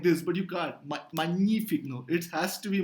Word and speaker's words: magnifique: So here you say GN as simple ni, magnifique. You don't say magnifique. Okay, it's just impossible to say magnifique, right?